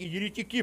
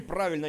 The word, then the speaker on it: еретики: Еретики, именно еретики, а не «еретики». В комментариях люди также пишут: «Черт, иди куда-нибудь, где пишут слова правильно, с правильным ударением».